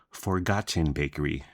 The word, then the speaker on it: Forgotten: Pronounce the T, Vince. Forgotten Bakery. So Forgotten Bakery is the stuff of legend in Sacramento.